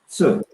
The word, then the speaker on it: 次: You can just think of ch, and then without the glottal sound, without the sound, deep throated sound.